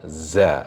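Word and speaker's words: زَ: When it has fathah, it's become za also. Okay, Za. za. Remember, it has to be buzzing, Za. buzzing from your mouth.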